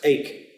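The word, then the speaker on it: eke: means also and is pronounced ache as in toothache egg however there there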